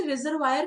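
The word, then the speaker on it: reservoir: इसी तरह से रिजर्वायर का प्रोनाउंसिएशन रिजर्वा, और सेंगफा इसका मतलब क्या होता है?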